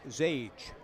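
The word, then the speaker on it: Xiage: I've ever seen before x i a g e x i GE pronounced zage Lancaster making the catch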